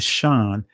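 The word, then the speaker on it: שין: In ancient Hebrew, the shan always made a sh sound.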